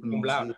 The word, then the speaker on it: cum laude: Could you please say it in good Cum laude. pronunciation?